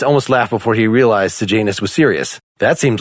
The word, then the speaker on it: Sejanus: We said his name is Sejanus? Sejanus is how they pronounced it in the audiobook, but again.